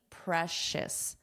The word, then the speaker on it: precious: Precious. Precious. So the spelling and pronunciation don't look the same. Precious. Shh. We have a sh sound.